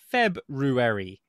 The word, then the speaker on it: February: Are you saying February? The correct pronunciation is February. But nobody would say it like that whatsoever.